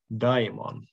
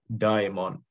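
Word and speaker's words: δαῖμον: in the accusative, and in the vocative we have daimon with the shortened final vowel and compensatory lengthening of the preceding diphthong. Again, because the accent here is on the first syllable.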